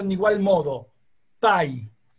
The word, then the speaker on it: pi: pronuncia un igual modo pay o sea que el número pi se dice pay y la palabra y